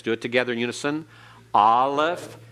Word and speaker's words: Aleph: Aleph. And what kind of sound does it have? It's silent. It has no sound of its own. It is one of 2 silent letters in the Hebrew alphabet.